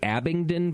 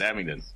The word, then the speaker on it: Abingdon: guys are from uh I'm going to probably butcher the name of the city Abington Virginia hey you got it got a yeah that's it Abington got it okay how long you been open